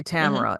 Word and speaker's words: Tamara: first name I say Tamara is that correct yes Tamera rhymes with camera good that's what yeah